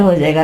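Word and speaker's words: whose: ठीक है, इसके अलावा रैंच, इसके बाद रैंच, यहां पे देखें W साइलेंट हो जाएगा, रैंच।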